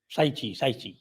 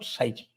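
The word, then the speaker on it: Cai Qi: साइची काइची नहीं है, साइची। इट ची। Is pronounced साइची।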